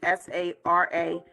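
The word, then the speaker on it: saragüey: ROMPE Sarague. It's actually SARAGYEY.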